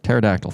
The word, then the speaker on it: pterodactyl: No, Pterodactyl? dinosaur. Pterodactyl. Thank you. Oh God. It's spelled with like a PH. No, I know it. Spelled with a PT.